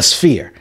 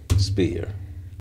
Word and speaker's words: sphere: But they said, how do you say atmosphere? Atmosphere. So you say atmosphere and then you take the atmos off. So it's the fear.